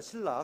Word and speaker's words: 실라: 실라, 같은 동일한 인물인데 실로아노는 로마에서 사용하는 라틴어식으로 실로아노라고 읽고 헬라어로는 실라 이렇게 읽습니다.